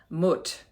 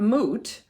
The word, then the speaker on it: Mut: egyptian creatrix mother goddess mutt m-u-t it's not moot i did listen to some pronunciation things i always thought because i know about newt n-u-t and thought it and i think it's somewhere between the long-you and the short you um but moot was